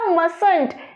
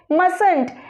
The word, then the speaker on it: mustn't: इधर must not का हो जाएगा mustn't, टी साइलेंट रहेगा, इसको कहेंगे mustn't, might not का mightn't, need not needn't, dare not का daren't।